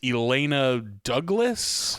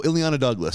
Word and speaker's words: Ileana Douglas: If I get her name wrong, I'm sorry. It's Elena Douglas. Oh, Ileana Douglas.